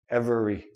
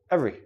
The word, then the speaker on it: every: i don't say every I don't say this letter e every every every one everything every